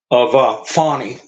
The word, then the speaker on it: Fani: She wants to, I guess, the French pronunciation. Fawny.